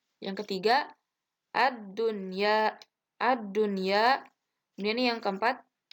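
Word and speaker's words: الدنيا: Yang ketiga ad-dunya.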